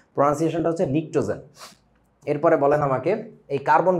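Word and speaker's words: pnictogen: এটা হচ্ছে নিক্টোজেন। এখন এখানে একটা মজা আছে। পরীক্ষার হলে ধরো তুমি এটা দেখলা। তুমি চিনবা না। কেন চিনবা না জানো? বানানটা হচ্ছে এইটা। ইংরেজি বানান। P silent.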